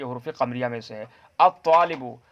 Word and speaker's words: الطالب: الطالبو، الطالبو میں ہم تلفظ نہیں کر پا رہے ہیں. اسی طریقے سے الطالبو میں جو طا ہے یہ حروف شمسیہ میں سے ہے، کیونکہ یہاں پر ہم لام کا تلفظ نہیں کر رہے ہیں.